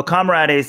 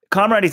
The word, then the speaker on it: Comrades: So Comrades is 56 miles, very close to 100K. Comrades, you guys, there is a word in the English language called comrade. I don't understand how you keep pronouncing this wrong.